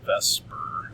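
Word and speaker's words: VSEPR: called ve is called Vesper Theory okay v s p I've had students in the past say that's says theer theory yes but in chemistry we kind of pronounce it like it's Vesper okay then get rid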